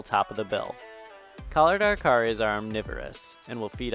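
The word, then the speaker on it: araçari: The collared araucari, which can also be pronounced arasari, is a small toucan of tropical lowlands.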